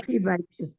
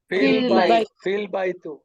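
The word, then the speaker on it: في البيت: অন্য অক্ষর চলে আসবে তখন আর এই হামজাটা উচ্চারণ হবে না এই হামজাটা ড্রপ হয়ে যাবে এখন এই দুইটাকে ইকুয়াল টু পড়লে কি ফিল বাই এরকম ফিল বাইতু না না ফিল বাইতুল ফিল বাইতু এই দেখেন আর উচ্চারণটা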